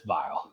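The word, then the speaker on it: Viall: his last name uh he calls it vial but it's vile so uh it's this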